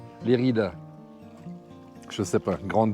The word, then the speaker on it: Lérida: Et ensuite, je ne sais pas, je peux aller là-bas vers, on va le prononcer à l'espagnol, Lleida, Lérida.